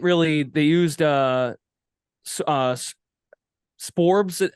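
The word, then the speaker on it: Sborz: and they didn't really they used uh uh spores how do you say how do you see his last name that evaldi the guy relieved evaldi last night spores right spores SP spores it's a it's a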